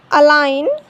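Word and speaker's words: align: Foreign, now, नेट, साइन, अलाइन, resign. L silent, L कब silent होता है?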